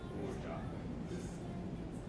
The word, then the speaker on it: orgeat: Yeah, but like how do you pronounce it? Like Orgeat. Orgeat? Like O-R-Z-H-A-T. Orgeat. And again, that's an almond and citrus-based syrup.